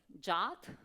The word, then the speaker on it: JWT: the question to you how do you pronounce it jot raise your hand um only a few JWT yeah yeah I'm relieved that also native speakers pronounce it like JWT okay I will use this pronunciation during the presentation then uh so Jason